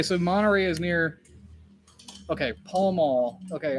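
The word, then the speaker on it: Pall Mall: monterey is near okay paul mall okay i know that the cigarettes are called pill mill that's how you pronounce that but is it the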